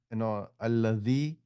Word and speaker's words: الذي: When we say allazi, we touch this with the top part of our tongue, but that's not how you pronounce allazi. Allazi, your tongue has to be in the middle of your teeth, the top part and the bottom part.